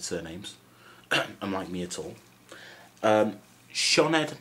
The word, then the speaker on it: Sioned: So you don't say Sioned, no, Sioned.